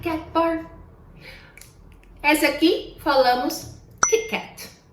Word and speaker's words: Kit Kat: Em português, a nossa pronúncia do T é normalmente, na maioria dos estados, tch, como falamos tia, né? Mas, em inglês, se nós fizermos esse som, pode ser que entendam palavras como Cheetos, que é a combinação